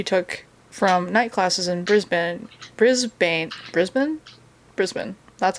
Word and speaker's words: Brisbane: think they were saying brisbane at the time or in the podcast so that's how they were pronouncing it it's not brisbane because that's a very american way to pronounce it okay i'm not gonna